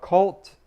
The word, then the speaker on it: KVLT: This comes from his album Cult, and it's spelled KVLT. So if you're looking for it online and it doesn't say Cult, you know, there you go.